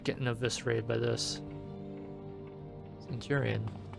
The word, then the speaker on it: Centurion: Centurion. Although I guess it's pronounced Kenturian.